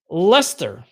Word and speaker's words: Leicester: those in the uk which is pronounced lester i have been pronouncing it leicestershire or or like sure for decades until oh lester country is gonna win